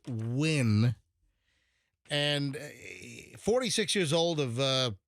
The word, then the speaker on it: Nguyen: By the way, that the name Win, Nguyen, it looks like you should pronounce it Nguyen, but it's pronounced Win.